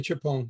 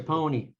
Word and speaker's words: Chiappone: Chiappone, is that close? It's close. How do you say it? I just say Chiappone, make it simple. Chiappone.